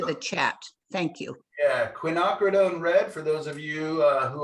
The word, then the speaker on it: quinacridone: Yeah, quinacridone red, for those of you who are taking notes, is spelled Quinacridone.